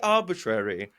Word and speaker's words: Arbortrary: I'm going to get a real English pronunciation of it. You ready? Completely Arbortrary.